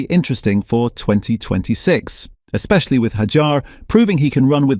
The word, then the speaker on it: Hadjar: It's Hajar, by the way, not Hadar.